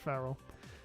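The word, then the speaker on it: Ferrell: Frell or Farel? I don't I never Yeah, Frell.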